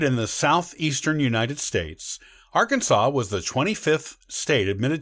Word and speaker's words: Arkansas: in 1803 with the louisiana purchase interestingly the pronunciation of the state was only settled as arkansas with an act of the state legislature in the 1880s before that it was more commonly pronounced as arkansas and some local people still use that pronunciation